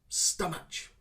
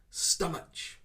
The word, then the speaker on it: stomach: is this one here stomach stomach i hear this a lot as well people try to pronounce the ch sound at the end but in this one we do not need that ch sound of course we hear